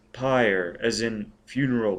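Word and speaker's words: PyrE: dham py capital p y r capital e pronounced py as in funeral P tell Denham we've located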